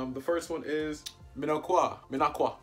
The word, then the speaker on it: Minocqua: But we're going to hear what the pronunciation of it is anyway. Let's do it. Minocqua, Wisconsin. Oh, I was right. Minocqua.